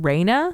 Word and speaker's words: Raina: Her name is It's They pronounce it like mine, Raina, but it's R A I N A.